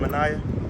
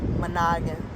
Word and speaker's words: Manogin: Managan. Manaya? Managan. How do you spell that?